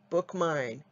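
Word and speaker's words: BookMyne: And BookMine is spelled B-O-O-K-M-Y, like my, N-E.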